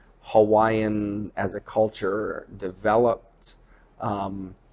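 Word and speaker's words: Hawaiʻi: things correctly you know it's not Hawaii I'm going to Hawaii you know it's it's Hawaii or Hawaii it's the three syllables and what does that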